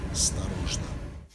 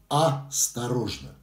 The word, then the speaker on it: осторожно: Осторожно. Осторожно. В русской сценической речи определяется такой речевой дефект, называется многоударность в словах. Это когда в одном слове не одно ударение на гласную букву, а есть еще одно маленькое, то есть два ударения.